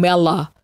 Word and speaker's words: Melo: She pronounces it Young Mella, but it's an O.